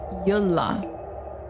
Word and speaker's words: Yola: Oh, it's pronounced Yola. Yola. Emphasis on the L.